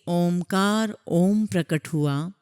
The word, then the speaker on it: ओम: हुआ है संगत जी ओम शब्द के उच्चारण में अ शब्द पहले आता है फिर उ शब्द आता है फिर म और फिर उसका हम नाद करते हैं विस्तार करते हैं तो अ शब्द को